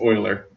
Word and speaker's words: Euler: to know who uh went to a math convention and called mueller because he didn't know how to pronounce it yep you better believe